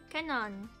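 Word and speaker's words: Kanon: It's K A N O N. Canon.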